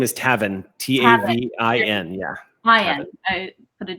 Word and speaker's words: Tavin: is the man yeah um his name is tavin t-a-v-i-n yeah i put it down as owen anyway so you described tavin as wiry and she is actually wiry as